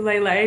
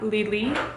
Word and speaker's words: Lé Lé: I'm pronouncing that right, they have a little accent on the E, so I'm assuming it's a Lé Lé not Le Le.